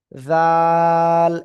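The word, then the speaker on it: ذال: জিহ্বার আগা, উপরে দুই দাঁতের আগায় লাগাবেন, লাগিয়ে উচ্চারণ করতে হবে চিকুন আওয়াজে। জাল, এই যে জাল, জাল। তিন আলিফ টান হবে।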